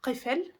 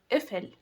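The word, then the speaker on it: قفل: And Nahri corrected Ali's pronunciation and told him to pronounce it as ifil, like in Egyptian dialect. Also in the Syrian and Levant dialect we call it ifil, but in standard Arabic it is qifl, which means lock.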